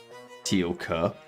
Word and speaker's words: Teal'c: You need to pronounce the K. Teal K.